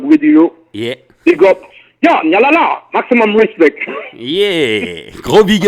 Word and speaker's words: Nyala: Donc Niala, ça s'écrit Nyala.